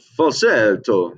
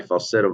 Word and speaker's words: falsetto: Okay, it's called falsetto. You can say it like an Italian, right? You'll see me get Italian a few times. I'm not Italian, but it's fun. Okay, so that's my falsetto.